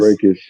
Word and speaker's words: Brækhus: Brækhus.